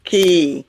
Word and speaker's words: key: In key, the E is pronounced like a long I and the Y is silent, key.